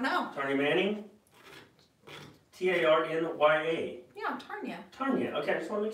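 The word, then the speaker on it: Tarnya: Yeah, Tarnia.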